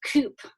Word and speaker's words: coupe: And we drove in a 1940 Ford coupe or coupe, depending on your pronunciation.